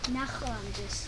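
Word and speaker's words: ნახვამდის: कुछ लोगों के लिए इसका उच्चारण करना कठिन होता है। आप "अलविदा" कैसे कहते हैं? नख्यमदिस नख्यमदिस...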